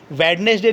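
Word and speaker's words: Wednesday: पर साइलेंट होगा sandwich वेडनेसडे नहीं होता है वेडनेसडे ठीक है दी साइलेंट है और हैंड कर छिप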